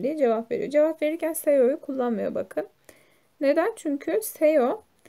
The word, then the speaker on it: 세요: Yani şayo falan diye okunmuyor, seyo diye okunuyor.